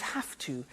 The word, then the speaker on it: have to: pronunciation I have to notice I don't say V I say s have half it becomes half to have the two becomes in pronunciation have to have two okay so